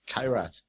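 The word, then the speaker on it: Koroit: Okay, the next one is the Co-Rot or Co-Rite Opal. It's pronounced Kyrat.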